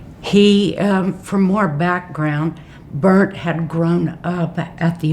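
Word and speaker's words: Bernt: was the case of state of Utah versus Burnt Murphy. And I that's the way it uh it's pronounced B E R N T M Murphy.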